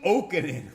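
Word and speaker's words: Jokinen: Ole Okinen, oh man, good player. Ole Okinen, J is silent.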